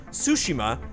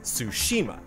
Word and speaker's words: Tsushima: My main thing was the inflection, and that's always like a big thing whenever people try to produce stuff. There's a difference between Tsushima and Tsushima.